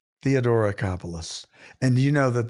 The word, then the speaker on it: Theodoracopulos: So, to help us figure it out, we've invited Taki Theodoracopulos. Theodoracopulos. Taki, you want to tell me your last name? Yes, but I just go by Taki, but Theodoracopulos. Theodoracopulos.